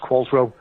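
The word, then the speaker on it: Qualtrough: it's of manx origin q-u-a-l-t-r-o-u-g-h it's pronounced qualsrow and he said i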